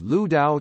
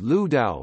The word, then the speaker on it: Lüdao: It is also known as Ludao or Lu Dao from the pinyin romanization of the name's Mandarin pronunciation, as Lu Dao from its Wade Giles romanization, and as Lek Tu from its Hokkien pronunciation.